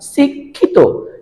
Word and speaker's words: শিক্ষিত: শুধু খ এর মত আর যদি মধ্য এবং শেষে থাকে তাহলে খি এর উচ্চারণটা লিখতে হবে ক খ এর মতো আমরা একটি উদাহরণ দেখি